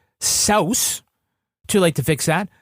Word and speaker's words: Seuss: So his middle name is Seuss, but it's actually pronounced Saus.